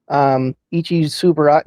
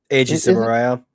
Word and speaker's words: Eiji Tsuburaya: What did oh, and I'm going to butcher the name horribly. You could probably help me out with it. Ichi Tsuburaya, no. Eiji Tsuburaya.